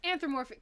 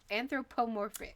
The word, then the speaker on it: anthropomorphic: about these anthromorphic characters anthropo excuse me i left out a syllable in there it might matter i think it does really matter it might matter to the meaning of the word so anthro pro anthropomorphic they basically furries without